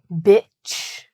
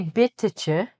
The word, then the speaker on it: bitch: "Bitch", and you can say that word, okay? Don't worry, I'm going to teach you about the other word "beach" later, but feel free. We don't say "bit-tuh-chuh".